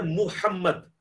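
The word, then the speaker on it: محمد: तो मारूफ है ना, ये लफ्ज है मुहम्मद एम यू के साथ, क्योंकि मीम पेश मुंह होता है, मो नहीं होता, मो जो है वो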